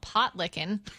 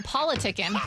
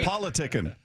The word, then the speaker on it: Politickin': Potlickin' that will be Politickin'. Oh my God, I read had my own Pot licking. What are they doing there? It's spelled T-I-C-K-I-N, and I Politicking. at the end I read that wrong.